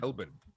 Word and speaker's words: Melbourne: to australians it's actually melbourne as though on the end it's bun as though it's a loaf of bread uh however i try